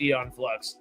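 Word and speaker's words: Aeon Flux: I think apparently it's eon flux. I have mis mispronounced that the entirety of my 27 years. Oops. I get what you're saying. Okay. Yep. The A is silent, I guess.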